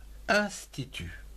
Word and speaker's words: institut: Ou encore un institut, I-N-S, ins, T-I-T-T-U-T, tu, institut.